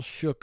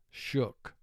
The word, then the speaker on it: shook: If oo were representing its first sound, it would be pronounced shook. But it's not pronounced that way, it's shook.